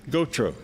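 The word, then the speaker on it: Gautreaux: say go Tigers it's g-e-a-u-x yeah and gotro is spelled g-a-u-t-h-r-e-a-u-x oh okay yes goatro yeah and a bear and h-e-b-e-h-e-b-e-r-t is Teddy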